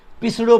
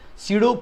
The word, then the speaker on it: pseudo: तो इसके बाद the centripetal force is सीडो force. सीडो, सीडो बोले तो ये जो स्पेलिंग आप देखोगे तो पी से शुरू होती है, PSEUDO।